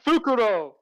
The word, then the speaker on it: Fukuro: japanese the name okay so it's pronounced fukuro yeah it's it's f-u-k-u-r-o all right i get